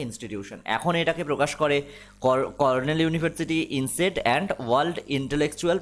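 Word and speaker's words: Cornell: নাও ইট is published by কর্নেল university, অনেকে কলোনেল বলে, ইট is pronunciation হয় কর্নেল university. আজকে দ্য হিন্দুতে এটা স্পেলিং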